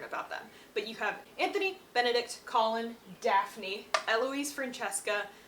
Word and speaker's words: Anthony: So, firstborn, Anthony, or Antony, I think is the British way you pronounce it. Anthony.